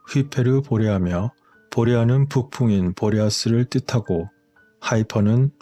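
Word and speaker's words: Hyperborea: 이러한 콜라반도에서 세계에서 가장 오래된 피라미드의 놀라운 발견은 전설적인 하이퍼보레아의 존재를 나타내는 것일까요? 하이퍼보레아의 그리스식 발음은 휘페르보레아며 보레아는 북풍인 보레아스를 뜻하고 하이퍼는 보레아스의 너머를 뜻하기 때문에 다시 말해서 북쪽 너머 끝에 있다는 의미라고 할 수 있겠습니다.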